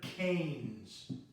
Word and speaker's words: Keynes: name of John Maynard Keynes that's pronounced canes and Keynesian economics is